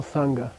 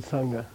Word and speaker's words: sangha: You want a prenasal ga? Use a nga, nga, nga. For example, sangha, the word sangha. It's not only easier, it's linguistically necessary.